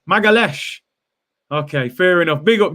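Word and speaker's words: Magalhães: got time for it you pronounce it as magalez magalesh okay fair enough big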